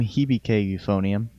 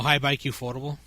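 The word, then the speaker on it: Hibike! Euphonium: Anyways, it's from Hibike Euphonium. Oh, high bike affordable. High bike ufotable if you're Nick and don't know how to pronounce anything correctly.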